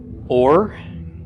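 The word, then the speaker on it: אור: followed by a race so the olive is silent Bob the column is a long o sound the race is an arm so this would be pronounced or or means light okay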